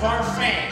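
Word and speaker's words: Barfée: It's pronounced Barfee.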